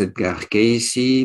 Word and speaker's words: Cayce: On prononce Edgar Cayce, mais en réalité, en français, ça se lit Edgar E-D-G-A-R. Vous voyez sans doute cela dans l'introduction. Et le nom, c'est C-A-Y-C-E. Mais en américain, on dit Cayce.